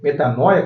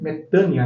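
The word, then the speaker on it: μετάνοια: ali em Atos 17:30 é metania ou metanoia como nós podemos pronunciar porque nós pronunciamos assim né mas os gregos pronunciam metania né significa também transformação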